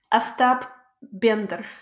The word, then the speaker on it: Остап Бендер: Остап Бендер.